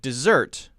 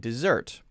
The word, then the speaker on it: dessert: interesting one desert and dessert desert and dessert well i think you can hear first there's a stress difference if i say usually